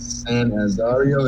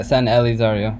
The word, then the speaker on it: San Elizario: in a way, or the what is it, San Azario? Is that how you say it? Yeah, San Elizario, or you just call it San Eli.